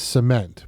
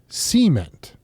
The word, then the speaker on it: cement: out here like my my driveway is cement but they would say cement when it rains I use an umbrella they say umbrella it's the emphasis of the word yes of the beginning